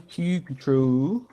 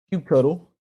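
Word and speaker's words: kubectl: i said should run cue control cube cuddle depending on how you want to say it like that ain't there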